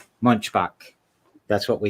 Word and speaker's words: Munchbach: Today is with me is Erica Munchbach with When September Ends.